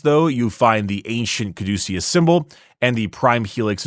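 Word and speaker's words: caduceus: of a space marine stylized look like the kaducius. That's how it's pronounced.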